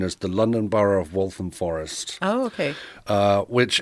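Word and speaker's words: Waltham Forest: you were born in walam Forest is that how you say it yeah so it's wam walam Stow so it's kind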